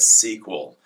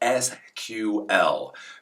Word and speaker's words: SQL: I call it sequel apparently the cool kids nowadays call it SQL just so you understand why I call it sequel It's because I've been doing this crap for 30 years and literally pronunciation changes pronunciation changes uh back in the day we all called it SQL I guess nowadays everybody calls it SQ L I do as